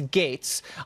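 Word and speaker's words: Gaetz: is kind of ridiculous it's GA etz it's pronounced gates but no one knows how to say that I'll tell them it's gates I wanted to rattle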